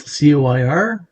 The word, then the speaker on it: coir: called a coir pot spelt coir but pronounced with a k these are fairly new